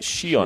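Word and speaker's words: Sheon: the spelling as he's out s-h-e-o-n so it's pronounced Shion Andrew so just as we got his name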